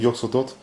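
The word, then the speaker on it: Yog-Sothoth: Souvent les anciens ont une prononciation de leur nom un peu particulière, donc bon, après moi je prononce comme c'est marqué sur la carte. Donc Yog Sotot.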